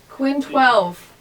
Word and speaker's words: Quinn XII: Should that be a 12? Quinn 12.